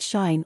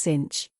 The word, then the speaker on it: sinh: hyperbolic functions these are the hyperbolic sine function pronounced shine or sometimes cinch the hyperbolic cosine function